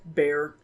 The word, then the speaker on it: Bexar: county in Texas, and you spell this county Bexar. How do you say it? Bear.